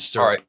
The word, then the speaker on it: syrup: Syrup. Syrup. Syrup. Yeah, it's one syllable, syrup.